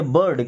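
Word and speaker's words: bird: इसको बीड नहीं पढ़ते। बर्ड क्या पढ़ेंगे?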